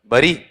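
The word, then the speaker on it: bury: बताओ पहले उच्चारण ही बता दो मुझे इसका। बरी बताओ देखें हां वही तो है ना देखो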